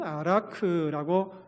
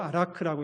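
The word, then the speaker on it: ערך: 원어 성경에 보면은 아라크라고 읽습니다. 히브리어로 아라크라고 읽는데 우리 같이 한번 방언을 읽어 보겠습니다.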